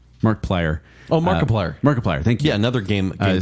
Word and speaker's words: Markiplier: number four you get a tie between uh Mark piler Mark play I kind of say his name right Mark plier oh Markiplier Markiplier thank you another game guy player his name